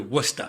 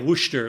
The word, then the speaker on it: Worcester: Worcester, pronounced just like that, too. Worcester. Okay, it's not like Wooster, like like Wooster sauce.